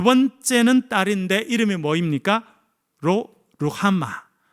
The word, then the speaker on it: 로루하마: 로루하마. 로루하마라고 읽는 것이 아니라 로루하마라고 읽어야 됩니다.